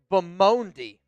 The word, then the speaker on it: Bamondi: My last name is pronounced Bamondi. Bamondi?